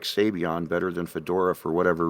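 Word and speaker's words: Sabayon: i can't remember why but i actually like sabion better than fedora for whatever reason that was but um now just in case anyone tries to correct you right here typically people pronounce it savion but here's the thing okay see here's the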